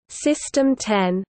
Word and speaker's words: System X: system X pronounced system 10 was a supercomputer assembled by Virginia Tech's advanced